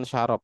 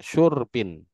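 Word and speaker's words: شُرْب: Syur bukan syarab, Pak. Syurbin.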